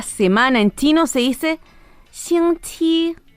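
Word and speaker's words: 星期: Esta palabra tiene una X y una Q. Aquí, ojo, nuestra boca tiene que estar como sonriendo para hacer la pronunciación de ambas. La X, que es la letra con la que parte esta palabra, es como una S larga.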